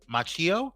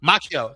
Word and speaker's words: Macchio: Jackie Chan and Ralph Macchio. Forgive me, I'm mispronouncing his name. Macchio, sorry. Which is in turn is delayed until May 30th, 2025.